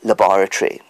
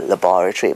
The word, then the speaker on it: laboratory: syllable now i'm sure you know the word laboratory so we think we're going to the laboratory but the americans say i will meet you at the physics laboratory so they put it on the third syllable now the thing is